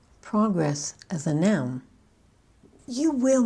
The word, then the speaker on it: progress: For two-syllable words that are both nouns and verbs or adjectives and verbs, we tend to accent the first syllable of the noun and the adjective, but the second syllable of the verb.